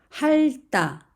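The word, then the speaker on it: 핥다: 할다, 할다, 할다. 여기에서 앞에 있는 리을은 받침이 소리가 나고 디귿은 디귿과 만나서 따라는 된 소리가 됩니다.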